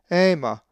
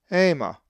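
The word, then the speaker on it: αἷμα: A Greek word that has the diphthong alpha iota is ema, which means blood and is number 129. The accent is over the iota in the alpha iota diphthong. The word is pronounced ema.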